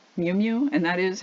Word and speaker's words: Miu Miu: heard of it before the name is Miu Miu and that is how you pronounce it mi u mi you they were very strange-looking